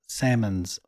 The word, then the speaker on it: salmon: the samsons or the Salmons Wing Salmons s a m m o NS not like the fish Salmons not salmon the L is silent is it though salmon